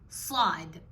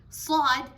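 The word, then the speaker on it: ص: Now sad, again, should not be mixed or confused for sin. Sin and sad have a different pronunciation. Sin is where you can hear it clearly, your tongue is not rolled. With sad, you can hear the sound turning a little bit hollow, or it becomes heavy because it is heavy.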